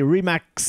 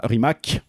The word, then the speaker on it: Rimac: Powered by Rimax. Voilà, Rimac. Bah oui, mais ils disent Rimax. Ah ouais, En prononciation croate, allemande, Tout j'en sais dépend rien. si tu as envie de prendre l'accent croate ou pas. Et si tu as envie de faire un mélange avec l'allemand aussi.